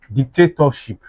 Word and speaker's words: dictatorship: now, I will have dic- ta- tor- ship Now, like I said, third syllable from back. 1 2 3. This is where the stress is.